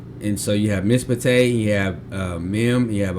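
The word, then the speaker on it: מִשְׁפָּט: The first of two continuous side by side shaws within a word is silent. For example, the shawah under the shin of mispate is silent and the shawah under the pay is vocal, right?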